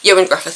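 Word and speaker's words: Ioan Gruffudd: one of those things that you just remember Joan Griffith who is a Welsh actor who'd done all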